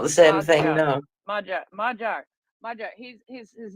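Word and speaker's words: Magyar: call him mag mag magar or something like that but he's majar yeah that's the that's the Hungarian pronunciation majar uh the way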